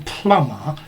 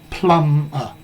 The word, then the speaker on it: plumber: this question here plumber notice the be in plumber is silent plumber plumber and this plumper